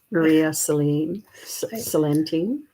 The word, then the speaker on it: Maria Celentine: And thank you, Katie, for being Maria Celentine. That's how it's pronounced.